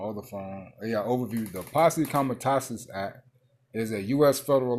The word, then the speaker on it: Posse Comitatus: can cancel out this how you say it, man? Kamatazi Posse. Let me type it in my other phone. I'm going to say it right. Kamatazi Posse Act. Some shit like that. Kamatazi something. I'll tell you what. The Posse Comitatus Act. That's what it is.